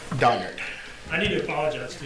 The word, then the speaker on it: Donnard: last name uh it's donard d o n n a r d and last name all right thank you it's it's donard not Berard donard I need to apologize